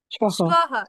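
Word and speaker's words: শ্বঃ: শ্বহ। শ্বহ। হুম। আমরা উচ্চারণ ক্লাসে পড়েছি যখন বর্গীয় ব থাকে না, অন্তস্থ ব থাকে, তখন হচ্ছে ব এর মতো উচ্চারিত হয়।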